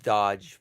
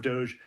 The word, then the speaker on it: DOGE: lawsuit, filed suit challenging Doge access to personal data contained within government. I just heard a new pronunciation, Doge. Almost Dodge, but it's not Doge anymore. Now it's Doge.